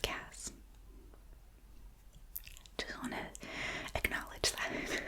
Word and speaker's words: CAS: the time of the C hearing appears after the issuance of the cas decision it would be possible I'm pronouncing it C I think it's usually pronounced Cass just want to acknowledge